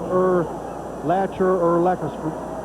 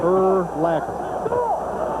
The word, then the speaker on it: Urlacher: Is it Urlacher? It rhymes with linebacker. Urlacher.